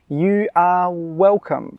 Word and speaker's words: you are welcome: When we say this, we really emphasise the 'are'. You are welcome.